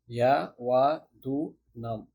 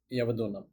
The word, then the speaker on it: Yavadunam: Pronounced again as Yavadunam, Yavadunam.